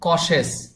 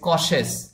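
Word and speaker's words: cautious: কশেস মানে হলো সতর্ক শব্দটি দেখুন কসেস এই শব্দটির সঠিক উচ্চারণ হবে কশেস কশেস মানে হল সতর্ক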